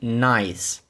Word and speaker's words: nice: I тобто nй і тут так само в кінці і ніяк не звучить звучання в неї немає Вона глуха тут але вона міняє літеру iй тобто то то це не буде nс а буде Nice далі друге слово -